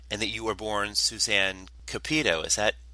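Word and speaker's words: Suzanne Cupito: a child actor and that you were born Suzanne capito is that pronounced correctly that's right uhuh that's right and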